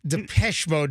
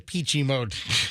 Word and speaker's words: Depeche Mode: Yeah, Depeche Mode, not the Peachy Mode.